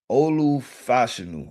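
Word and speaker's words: Olu Fashanu: went the Chicago Bears I went them drafting Olu Fashion right that's the proper way to say I want to say DPI.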